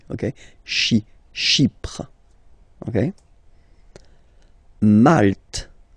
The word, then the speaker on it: Malte: Malte. Same thing here, you don't insist on the final E. Malte.